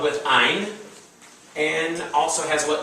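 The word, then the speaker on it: ע: Ein. The accents on all the alphabet are always in the first syllable. So it's not ayin, it's ein. Ein. Ein. Ein. So it sounds like the word mine.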